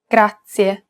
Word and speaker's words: grazie: lesson it's pronounced grazia this word uses the rolled r sound grazie to pronounce this sound